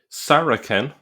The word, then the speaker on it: Saracen: the the c be the c was pronounced with a k sound in earlier centuries. So that's worth pointing out. So the word saraken first appears in Greco